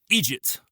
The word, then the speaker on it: IDGT: Only this time, it isn't the IDGT, pronounced Egypt device, but the Instaplanet device.